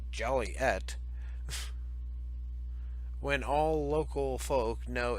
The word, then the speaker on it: Joliet: the right there there people's jolly yet town fathers reflecting the pet peeve of hearing their town's name mispronounced Joliette when all local folk know it's pronounced Joliet